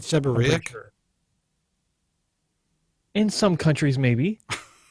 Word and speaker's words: seborrheic: No, the H is silent. It's seborrheic. Isn't it seborrheic?